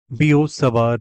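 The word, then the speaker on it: Biot–Savart: से बोला जाता है क्योंकि इसमें टी साइलेंट है इट्स अ फ्रेंच वर्ड बियो सवर लॉ जीन बैप्स बी फ्रेंच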